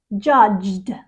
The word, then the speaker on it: judged: we have judge judge J sound becomes judged judged then beg beg GG